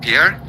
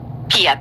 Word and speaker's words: Pia: Yeah, it's Laissez-Faire Lounge, but my name is Pia. Pierre? Pia, P-I-A.